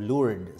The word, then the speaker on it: Lourdes: or Paris Emma Francis I Our Lady of Lourdes silent s a little bit of